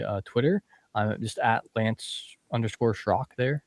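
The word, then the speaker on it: Schrock: I'm just lance shrock there. Shrock is spelled below here. It's a little little different.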